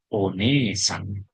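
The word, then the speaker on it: お姉さん: Ini cara macanya onesang.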